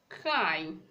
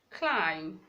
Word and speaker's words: climb: Okay, we still have climb, climb, not climb. The B is silent.